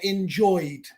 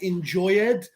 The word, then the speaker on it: enjoyed: Silvano Romero, yeah, enjoyed. No se dice enjoyed. No existe. Enjoyed.